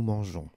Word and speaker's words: mangeons: j'ai coloriées en rouge j'ai quand elle est suivie par un os se prononcent gains pour cette raison pour pouvoir prononcer mangeons entre le radical mange et la terminaison au n s il vous rajoutez un e muet qui transforme le gain en jeu il ne faudra pas